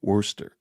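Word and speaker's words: Worcester: say it again Worster Worster is how it's pronounce Worster okay I'm going to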